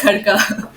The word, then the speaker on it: Khadka: So, your surname for everyone, it's Khadka, right? Yeah, it's Kharka. That's right. That's right. You encountered where people have mispronounced or something?